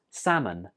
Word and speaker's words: salmon: foods this fish is pronounced salmon salmon did you notice something here right the L is not pronounced so in writing we write it with an l and when we're speaking we don't say that L it's just salmon in a sentence Canada